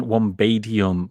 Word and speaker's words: Wombatium: I think the pronunciation Wombadium follows typical English pronunciation rules for similar suffixes like ium, like helium, sodium. The b in bat has a short vowel sound, which would make the pronunciation less fluid and less typical for a word ending in ium.